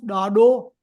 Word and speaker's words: ॾाॾो: Can you all pronounce Dado? Dado. Da. Dado. Dado. सब चो. Neelam, Nitya. Dado. सब चो. Dado. Dado. हाँ. Dado. Da. It has got implosion of tongue touching the upper palate and coming down.